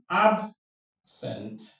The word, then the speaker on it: absent: Remember that a verb with two syllables often takes the stress on the second syllable.